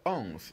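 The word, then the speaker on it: onze: how do we spell ons you can clearly see ons here is spelled o n z e ons do is spelled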